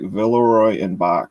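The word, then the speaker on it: Villeroy & Boch: cool so that's what the bottom looks like villarroy and bach is how you pronounce that if you're in a goodwill you're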